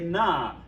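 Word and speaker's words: זקנה: Now, notice that comments reduces to a shavah because it becomes the third syllable from the accent. Propretonic reduction. You already know this. Zakane becomes Zakena when you put that inflectional ending on for the feminine singular.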